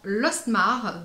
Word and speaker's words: Lostmarc'h: la marque de la côte iker des océans lostmarc'h donc que je prononce correctement cette fois ci qui m'avait enchanté